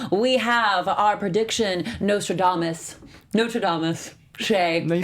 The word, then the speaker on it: Chae: Chae.